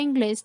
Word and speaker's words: inglés: La palabra inglés tiene 2 sílabas. La sílaba con mayor fuerza es la última, termina en S, cumple con la regla, se coloca tilde y es una palabra aguda.